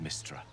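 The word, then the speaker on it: Mystra: Oh, it's pronounced Mistra?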